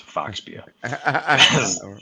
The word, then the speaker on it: Phobia: This year we brought it out as the way that Phobia is normally pronounced in the pub, which is Foxbia.